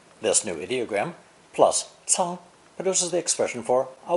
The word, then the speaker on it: 仓: It's pronounced first tone, 仓, 仓.